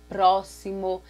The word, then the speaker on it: próximo: A palavra trouxe, próximo. Então, todas essas palavras, ela tem um som, nós escrevemos com X, mas nós pronunciamos ela com esse som de dois S, como se tivesse dois